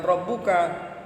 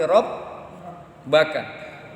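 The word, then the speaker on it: ربك: Jadi bacanya bukan rabbuka tapi rabbaka.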